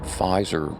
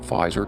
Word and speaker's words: Pfizer: messenger RNA inoculations a name of the vaccine maker rhymes with geyser tell your friends about this one especially your blue pill Mass informed friends now we all know that Pfizer is all about open